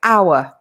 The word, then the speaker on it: hour: Obviously, it's written with an H, but the H is silent. So we say hour.